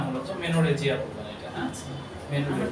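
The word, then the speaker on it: menorrhagia: এর উচ্চারণটা হয় না মূলত, মেনোরহেজিয়া বলবেন এটা, হ্যাঁ?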